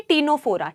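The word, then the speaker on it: Ctenophora: टी से टीनोफोरा। टी टीनोफोरा में बेटा सी साइलेंट है।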